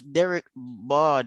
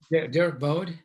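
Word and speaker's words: Derk Bodde: Yeah, like if Derek Bard was how do you pronounce his name? I keep mispronouncing it. Derek Bode.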